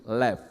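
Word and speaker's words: לב: Ini lamet dan bet digabung akan berbunyi lev, yang artinya hati.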